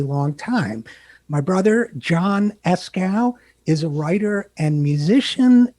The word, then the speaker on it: Eskow: own brother john so first of all john escow thank you for coming on the zero hour thank you for getting my name right good pronunciation yeah esko is that the escrow okay um an audience